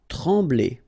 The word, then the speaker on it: trembler: Trembler. Okay, same thing here, nasal, EM, okay, en, trembler, okay, no pronunciation of the M, trembler.